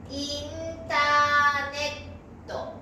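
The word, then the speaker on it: インターネット: ですから発音はインターネット、インターネット。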